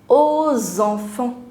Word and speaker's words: aux enfants: Now separately it is O enfant, but together it becomes aux enfants, liaison. Right? You start pronouncing the last consonant as well when the next word begins with a vowel.